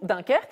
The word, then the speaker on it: Dunkerque: Le film Dunkirk, ou Dunkerque si on le prononce à la française, vient de décrocher 8 nominations aux Oscars.